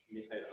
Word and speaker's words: Michela: Next speaker will be Michela Platini. Sorry, I probably mispronounced your name. Michaela, okay.